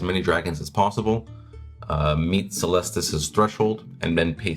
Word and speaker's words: Caelestis: I think we say the A is silent, so Caelestis, perhaps? Caelestis, I think is probably Yeah.